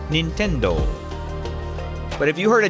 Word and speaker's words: Nintendo: it's pronounced more like Nintendo. Nintendo. Kind of with more of an emphasis on the do part of the word at the end. Nintendo.